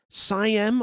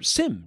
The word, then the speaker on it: SIEM: information and event management, otherwise called SIEM or SIEM or SIM, depending on how you like to pronounce things.